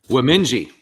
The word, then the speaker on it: Wemindji: that and uh you can go ahead and pronounce the name because i don't want to do it wrong womenji women that's in quebec right yeah the cree